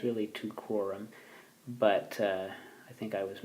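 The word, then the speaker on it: Teucrorum: It's really tucrorum, but I think I was mispronouncing it earlier, so just a little note on that.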